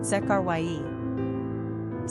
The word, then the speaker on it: Zechariah: Pronunciation, Zekharyah.